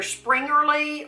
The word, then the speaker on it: Springerle: Now, people pronounce either Springerle or Springele.